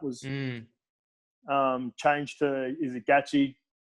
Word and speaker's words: Gaethje: I was looking forward to Ferguson Khabib, and then once that was changed to, is it Gaethje? How do you pronounce his last name? Gaethje.